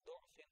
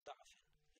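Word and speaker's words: ضعف: And then the last one, the word du'afin and da'afin. No change in the meaning, but it's up to you, you know.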